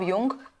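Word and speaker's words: Jung: Collective unconscious is given by Karl Gustav युंग, जिनको लिखते हम जुंग है, बट जो प्रोनाउंसिएशन है वो युंग है।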